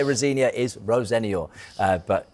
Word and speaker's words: Rosenior: I say Rosenia, by the way.